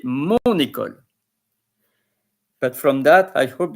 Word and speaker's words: mon école: You don't say, for instance, ma école, you say mon école.